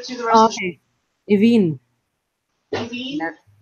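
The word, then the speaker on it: Aoibheann: The AOI always makes an E.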